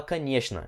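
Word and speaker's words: конечно: caneta uma significa claro aqui você presta atenção na pronúncia porque essa palavra ela é escrita assim o canivete na só que a gente fala caniche na aí fala um pouco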